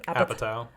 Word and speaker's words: Apatow: Apatow.